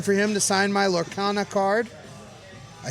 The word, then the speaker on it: Lorcana: I'll be looking for him to sign my Lorcana card. I said it right? Yep. Yes. Lorcana.